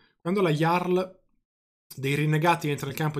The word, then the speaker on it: Jarl: quando layar dei rinnegati penso sia iarla questo caso anche perché nei linguaggi nelle lingue nordiche moderne la j sì è una j e si pronuncia come la ypsilon non come la jmj quando la jarl dei